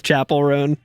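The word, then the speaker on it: Chappell Roan: The only thing that happened was the cool Chappelle Roan set. That's cool. Chappelle Roan. How do you say it? Someone might correct you, Alex. I'm not trying to actually you, but it is Chapel Roan.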